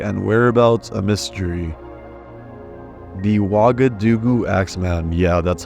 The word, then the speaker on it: Wagadu: The Wagadu Axman. Yeah, that's how you pronounce that.